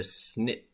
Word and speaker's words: SNP: c'est un identifiant de snip ces trois lettres SNP mais on les prononce snip qu'est-ce que c'est qu'un